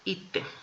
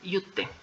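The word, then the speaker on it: 行って: Entonces, las dos se van a pronunciar ite. ¿Sí? La de yuku también va a cambiar a ite. ¿Sí? No se va a pronunciar yute, se va a pronunciar ite.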